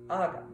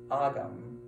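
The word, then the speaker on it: Ogham: But what's interesting about the word agam is that it can be used to refer, or oum, I should say. I believe that's how the Irish pronounce it.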